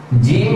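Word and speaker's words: جيم: আপনাদেরকে উচ্চারণটা দেখিয়ে দিচ্ছি জিম হরফটি উচ্চারণ করা হবে জিহ্বার মধ্যখান ঠিক এই জিহ্বার মধ্যখানটা আমরা উপরের যে তালু উপরের দিকে লেগে যাবে এই জায়গা থেকে আরো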